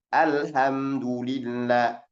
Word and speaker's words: alhamdulillah: Misalnya al bukan al ya misalnya alhamdulillah bukan alham bukan alham tapi alhamdulillah. Alhamdulillah.